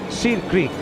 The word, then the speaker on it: Sir Creek: That is Seer Creek, or now, over the years, pronounced as Sir Creek.